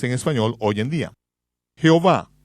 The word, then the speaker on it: Jehová: Jehová, un nombre que se encuentra en algunas versiones de la Biblia, es una palabra híbrida obtenida de pronunciar las 4 vocales como consonantes y sumando las vocales de la palabra hebrea Adonai, que significa Señor.